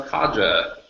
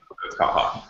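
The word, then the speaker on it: caja: Also, often mispronounced Kaja because it's Kaha.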